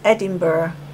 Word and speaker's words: Edinburgh: Das Personal an der Campingplatzrezeption war sprachlich sehr gut geschult und um deutliche und verständliche Aussprache bemüht. It's Edinburgh.